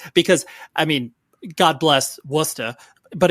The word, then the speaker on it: Worcester: You're actually saying it wrong. It's Worcester.